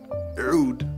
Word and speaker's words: Oud: Oud, properly pronounced, literally means wood in Arabic.